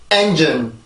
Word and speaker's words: engine: engine. 자, 이렇게 발음이 되는데, 우리가 사실 이 발음을 읽을 때 엔진이라고 읽잖아요.